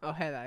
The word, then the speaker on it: Ojeda: Ojeda. Ojeda, yeah.